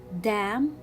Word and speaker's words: damn: n in many words but when it is next to letter m so it will be a silent letter as in words like damn i see here letter n coming after letter m so i will not pronounce it and i will see it as a silent letter so i will read it damn autumn here i have